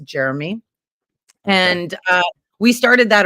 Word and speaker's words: Jerome: Drew nicknamed him Jeromey because his name's spelt Jerome, but it's pronounced Jeremy.